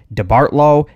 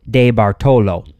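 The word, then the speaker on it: DeBartolo: and Associates Museum now I've heard his name pronounced a number of ways debartlo de bartello and many others but I believe the name has Italian orig so we're going to go with de Baro Edward de Baro was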